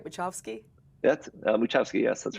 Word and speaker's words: Muchowski: That's Muchowski, yes, that's right.